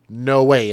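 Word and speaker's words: Noe: and 11 year old no way and I think that's how you pronounce it n-o-e no way which are the names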